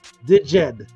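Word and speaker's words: Djed: the Zed pillar again there's a zed pillar which is pronounced digid okay because the temple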